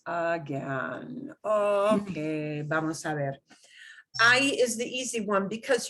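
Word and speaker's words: hay: Just remember, don't pronounce the H. Never say, oh, for God's sake, don't say hey. I know it looks like the English hey, doesn't it? But yeah, you do hey, somebody like have no idea what you mean, right? I, like, it's like I, you know, people exclaim I. That's the same pronunciation as the verb I, except I audífonos aquí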